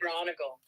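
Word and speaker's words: Braunagel: Tony Bronigal? Tony Bronigal.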